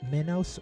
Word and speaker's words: Minos: The I in Minos is pronounced E. So Minos or Minos.